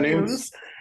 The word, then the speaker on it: Nunes: Uh but our guest is Jason Nunes, who did I pronounce that right? Is it Jason or Nunes? Okay, Jason Nunes.